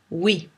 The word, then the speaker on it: oui: est normalement hier pareil pour le mot oui très lentement ou oui oui oui ou pour le mot